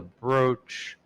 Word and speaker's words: brooch: Like broaching a topic, but why is it spelled with 2 O's?